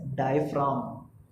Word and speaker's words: diaphragm: Pronounce इसको करते हैं एज डायफ्राम.